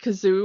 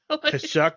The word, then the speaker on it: Kashyyyk: And hilariously, the Imperial muckety-muck that gives this doesn't know how to pronounce Kashyyyk, because he says, like, the planet Kazoo or something like that. Kashyyyk, or like. Yeah, it's a very bizarre, like, Kazook or something.